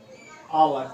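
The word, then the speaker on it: hour: आवर, एक, एन आवर मतलब 1 घंटा, आवर, एच से शुरू है, लेकिन इसका हम पढ़ते हैं आ, ये दोनों मिलकर आ बन जाता है, आवर।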